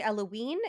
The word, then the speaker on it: Eloine: Mary Eloine, which is also excuse me, Mary Eloine. It's spelled like Eloise except with an N instead of an S.